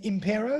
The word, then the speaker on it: Impero: Is it Impero? Is that how you pronounce it? Impero, yeah. It's a Latin word.